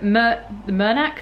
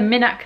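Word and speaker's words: Minack: going to mousel and to the murnak theatre the minak theatre and then to paul's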